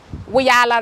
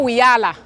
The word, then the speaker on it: Wiyaala: It's Wiyaala Rejimba, but just say Wiyaala. It's not Wiyaala. It sounds like Rihanna, which is amazing, but it's, yes, because everybody keeps saying Wiyaala, wee.